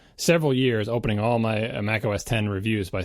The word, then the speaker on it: Mac OS X: I would have, I spent several years opening all my Mac OS 10 reviews by saying, and by the way, this is another reminder, the X is pronounced 10, because no one knew what the hell Mac OS X was, right?